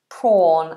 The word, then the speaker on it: prawn: crustation it's a shellfish the shellfish prawn prawn prawn long vowel or so so prone prawn